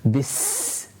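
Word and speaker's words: بِسْمِ: You have the seen, and the seen is again a letter where we have sound and air continued whilst pronouncing it in order to make it more audible as well. Bis, bis.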